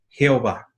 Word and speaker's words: Jehová: ya ver por qué porque es imposible pronunciar y el h w entonces se agregaron vocales para que nosotros podamos pronunciar y es una combinación lingüística para que nosotros digamos jehová hoy a ver los